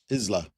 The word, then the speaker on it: Isla: Isla. But it's pronounced Isla.